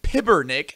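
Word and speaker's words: Pibernik: Last name is spelled P-I-B-R-N-I-K. So it's Luca Pibernick. Pibernick. Pibernick? Pibernick. Pibernick. Whatever. Either way. Pibernick. Don't care. Gotta roll the R.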